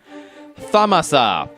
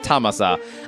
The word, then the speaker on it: Thamasa: Thamasa, which probably I was the only one who made the mistake of pronouncing it Thamasa.